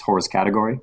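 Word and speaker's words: hors catégorie: And the name of that blog is, if I say it not the way a French person would say it, but the way an English person would say it, it's hors category, with category spelled with an IE.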